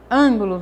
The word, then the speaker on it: ângulo: Ângulo, na palavra ângulo. Ângulo. O an é a sílaba tônica.